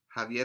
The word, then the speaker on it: Javier: x x okay x there are people who have names with x with x one is ximena who is also spelled with an x ximena it sounds different right and so is javier javier is also written with this x as well so it's a very interesting sound to hear the lowercase x